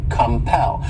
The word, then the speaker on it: compel: next verb is compel this word has two syllables and the stress is on that second syllable compel and what it means